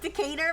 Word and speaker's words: Decatur: Oh, it's pronounced Decator. My bad. Listen. Sakata. Decada. Dater. Decator.